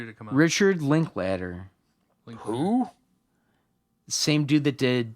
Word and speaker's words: Linklater: Richard Linklater? No, you're right, yeah. Ladder. yeah, he did. It's spelled like later. Linklater, but Oh, like but I could see how it could be I ladder.